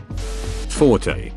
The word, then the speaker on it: forte: find its pedantry it's Forte when used to refer to someone's strong suit is pronounced Fort it's a French noun related to the strong part of a sword blade near the hilt Forte pronounced Forte is